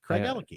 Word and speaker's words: Craigellachie: Craigellachie. Craigellachie. I so has a latchy in there.